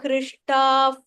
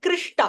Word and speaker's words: हृष्टाः: कृष्टा Hrishta. I am hearing Krishta. I'm इल्ल hearing हृष्टा हृष्टा Hrishtav.